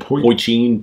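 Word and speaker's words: poitín: Poitin.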